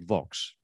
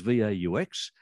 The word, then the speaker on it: Vaux: I tell you how I pronounce it, Vaux. And I'll tell you why. When I was growing up, there was a brand of motor car called a Vauxhall. And the first syllable of Vauxhall is Vaux.